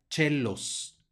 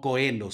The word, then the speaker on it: coelos: también siguiente palabra especial tenemos otra vez el diptongo oe que va a sonar como e y la c que va a sonar como Che por lo tanto se pronuncia chelos no coelos sino chelos Vamos adelante y aquí